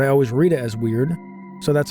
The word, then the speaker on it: Weird: I realize in the game it's pronounced word, but I always read it as weird, so that's how I'm going to say it.